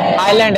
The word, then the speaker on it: island: एन आइलैंड, इस ISLAND को क्या पढ़ेंगे? आइलैंड, एस साइलेंट रहेगा।